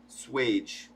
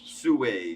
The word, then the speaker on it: Sewage: Swage. oh, sewage, Swage. Sewage. Yeah. It's Sewage. sewage. Sewage. like Now, a sewage sewer. slave doesn't sound as sexy. No, it's not. I'm a slave to sewage. We butchered the fuck out of that name, bro. I'm sorry. He's like, Sorry. it's sewage, Yeah. bro. We love Yeah, you. yeah. Buy his NFT anyway. That's That's Mr. Sewage.